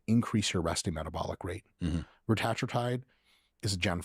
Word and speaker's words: retatrutide: So there's a bunch of them, but I pronounce it retatrutide. Right. You can also say it retatrutide if you want to say like 3 words instead of 1.